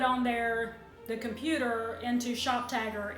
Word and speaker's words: ShopTagr: into the browser extension Shop Tagger. I'll spell that here because it's not spelled like it sounds.